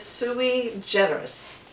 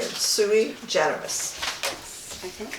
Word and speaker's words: sui generis: So the word is sui generis. Generis. spell it? Sui generis. S-U-I, and then it's G-E-N-E-R-I-S. Oh yeah, sui generis.